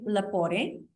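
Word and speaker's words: Lepore: a special guest um his name is Frank lapore is that correct did I pronounce it correctly you got it right perfect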